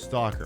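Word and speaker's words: S.T.A.L.K.E.R.: going to be playing St a l k e r shadow of Chernobyl that just says stalker okay I'll pronounce it as stalker so since tonight's show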